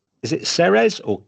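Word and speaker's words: Ceres: Now during the wandering, she comes upon a temple of and I'm going to pronounce this wrong. Is it Serez or Kerz? The series.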